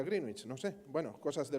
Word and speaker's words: Greenwich: adoptó el meridiano de greenwich que yo he pronunciado toda mi vida greenwich pero se pronuncia greenich no sé bueno cosas